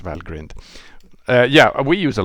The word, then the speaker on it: valgrind: use a lot of valgrind but uh or Val grinned I I believe Julian says Val grind I have a hard time just to use that pronunciation but I think it's well grinned uh yeah we use